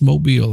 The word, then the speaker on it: Mobile: It's Mobile, Alabama. Mobile, Alabama. Mm-hmm. Okay. I was just confused because I thought that all the Alabamians, or however you want to say it, call it Mobile.